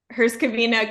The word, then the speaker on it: Herzegovina: I think you did it good, even though the right way on the language is Bosnia and Herzegovina. But again, it is correct what you said.